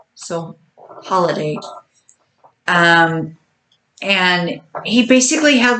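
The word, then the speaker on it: Holladay: in the Salt Lake Valley more specifically in holiday or you some people say holiday other people say holiday but it's spelled h o l l a d so holiday um and he basically had like a compound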